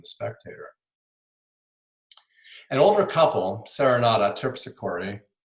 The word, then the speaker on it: Terpsichore: An older couple, Serenata Terpsichore, so it rhymes with hickory, and her husband, Remington